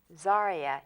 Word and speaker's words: Zaria: Zaria.